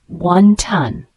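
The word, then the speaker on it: wonton: roll with various fillings the word wanton spelled w n t o n pronounced wantan a wantan is a type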